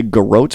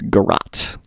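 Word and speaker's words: garrote: I keep wanting to say Groat, but it's Garat.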